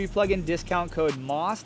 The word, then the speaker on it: MAUS: plug in discount code Moss. That's spelled M A U S like German mouse, but it's pronounced moss.